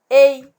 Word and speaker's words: et: Et. Donc, et, je ne prononce pas le T. Donc, le T, c'est une lettre muette.